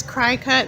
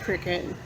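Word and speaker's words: Cricut: I always call this cry cut, but it's actually pronounced cricket.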